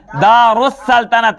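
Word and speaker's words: دارالسلطنت: जाएगा उसी तरह से यहां दार अल सल्तनत अल सल्तनत लेकिन यह पढ़ा क्या जाता है दारुस सल्तनत अलिफ और लाम साइलेंट हो जाता है अलिफ और लाम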